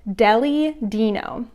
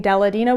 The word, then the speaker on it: Deli Dino: I've got my, I learned how to say this. It is Deli Dino. Deli Dino. I think I was saying Deladino before. It's Deli Dino.